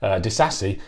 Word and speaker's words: Disasi: could possibly wish for onyx eldest a see Addis a see it turns out is the correct pronunciation I mean from listening to what Jeremy